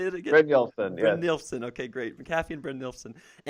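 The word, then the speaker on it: Brynjolfsson: Bryn Nielsen.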